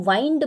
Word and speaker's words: wind: तो WIND इसे pronounce करते हैं विंड, जिसका मतलब होता है हवा, और WIND इसे हम वाइंड भी प्रोनाउंस करते हैं, जिसका मतलब होता है गोल गोल लपकर रखना, राइट।